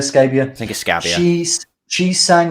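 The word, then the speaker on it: Scabbia: them that much yeah christina scabia yeah you pronounce it scabia scabia thank you she's she sang on the uh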